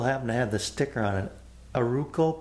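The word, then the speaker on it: Arauco: the sticker on it aruka ply i think is how you say it yeah a-r-a-u-c-o root call ply anyway i'm going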